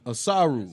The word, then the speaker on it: Asaru: I think I said it right the first time, right? Say it one more again. Asaru. You got it now forever.